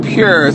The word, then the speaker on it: Pur: So, yeah, but it's P-U-R and, it's pronounced pure.